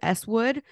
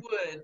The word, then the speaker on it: Swood: bike packing with uh how do you say it is it eswood or swood it's swood because it's Stephen wood is his name okay with with swood